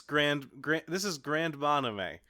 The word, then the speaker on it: Grandmanime: This is Grandmanime. I think is how you pronounce it, because you'd pronounce anime the same way that she would.